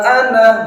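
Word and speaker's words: أَنَا: Nah, ini harus dibaca pendek, nggak boleh kita membaca panjang. Yang tertulis tidak seperti yang kita baca. Yang tertulis tidak sebagaimana yang seharusnya kita membacanya. Wala ana 'abidum ma 'abadtum. Nanya harus baca pendek. Ana 'abidun, harus gitu. Ini kadang terbawa, bisa jadi terbawa oleh ain yang berikutnya. Ainnya panjang, nanya dipanjangkan juga.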